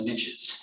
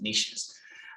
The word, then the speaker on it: niches: And business people that I follow, they'd always say, riches are in the niches, even though it should be pronounced niches.